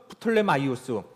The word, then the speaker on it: 프톨레마이오스: 죽고 나서 프톨레마이오스라고도 하고 프톨레미라고도 하고 이제 발음이 각각 다르긴 하지만 같은 사람이죠. 거기는 이집트 중심으로입니다. 그렇게 이렇게 나라를 그래서 두 나라 셀레우코스 여기서 지도에 보면 셀레우코스, 프톨레마이오스 두 이제 나라가 이제 서로 부딪히게 되어지는 것이죠.